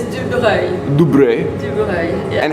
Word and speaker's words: Dubreuil: Oh my God, my name is the worst to pronounce in English. Yeah. It's Dubreuil.